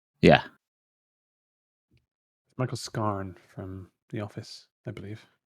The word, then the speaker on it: Scarn: Were you pronouncing it Detective Michael Scam? Yeah. Michael Scarn from The Office, I believe.